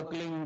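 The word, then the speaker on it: क्लीं: किलो मटर में फले उस एक शब्द क्लीन शब्द आधा ल में मिला बड़ी की मात्रा और बिंदी उसका उच्चारण होगा क्लिंग ग की निकलेगी पीछ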